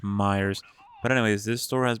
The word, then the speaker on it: Meijer: I mean, a lot of people pronounce it Meijers or Meijers, but I'm pretty sure it's pronounced Myers.